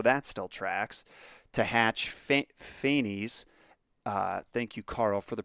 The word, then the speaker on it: Phanes: This latter pair then crushed the cosmic egg with the serpentine coils, so that still tracks, to hatch Phanes, thank you, Carl, for the pronunciation of Phanes, life, and divide the cosmos into its constituent parts, heaven, air, earth, and sea.